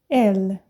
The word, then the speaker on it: elle: Porque o francês, ele costuma comer a letra final também, o S, sempre. Tanto é que vocês vão ver aqui na hora que eu falar no plural. E o L, o E final, muitas vezes também, tá? Por isso que é elle.